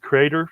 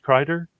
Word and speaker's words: Kreider: And again, these are coming out of Lancaster County, Pennsylvania, Crater Farms, Crater. And so, and it's, I'll try to put this online if I can, but it's spelled Kreider.